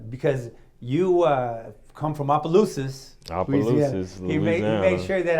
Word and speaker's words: Opelousas: Opelousas, Louisiana.